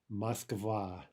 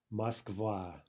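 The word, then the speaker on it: Москва: in Russian Moscow is Moskva Moskva now listen to the stress Moskva and let's mispronounce it first of all where is the stress Moskva it's on the second syllable now how do we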